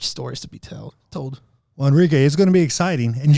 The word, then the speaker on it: Henrique: now once again Instagram Enrique could I shut you it's because the H is silent it's all weird about